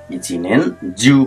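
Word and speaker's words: 一年中: तपाईँले के गर्नुभएको थियो इचिनेन जिउ भनेर यसको उच्चारण हुन्छ अर्को हेर्नुहोस् निहोन जिउ यहाँ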